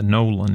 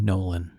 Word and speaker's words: Nolen: Yeah, and for you guys listening at home, the Nolan is spelled Nolen. Yeah. R.D. Nolan.